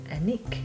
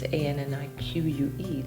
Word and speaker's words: Anik: But in French, because it's a French name, Brittany, Yeah. you pronounce it ANIK. It's ANNIQUE, the old version.